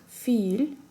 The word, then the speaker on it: филь: Это филь, филь. 3 буквы, произносим его со смягчением в конце.